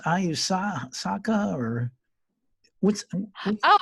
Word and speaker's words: ayahuasca: Well, this plant how is it pronounced? Ayusaka or what's? Oh, ayahuasca.